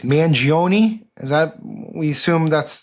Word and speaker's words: Mangione: I think it's Mangione. Is that, we assume that's the pronunciation here?